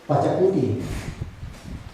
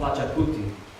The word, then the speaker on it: Pachacuti: y su nombre es Pachacuti. It's called Pachacuti. Pachacuti. Pachacuti. A ver, pronunciamos todos.